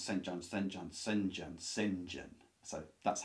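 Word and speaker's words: St John: the brother's called Sinjin it's actually Saint John is how you is how it's written but when you pronounce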